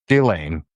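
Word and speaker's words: Ghislaine: like Maxwell does to Chislain Gillain. Sorry, Gillain. Um because that's actually how you say her name and I'll say it.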